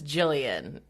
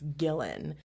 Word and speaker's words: Gillan: I thought it was Jillian, and then I looked at my notes and it's Gillan. And I don't know how to say Thwaites.